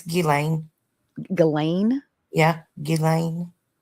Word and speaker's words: Ghislaine: um It's Ghislaine.